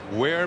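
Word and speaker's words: Weir: Where, Mississippi? It's spelled W-E-I-R, but there's only 535 people in the town.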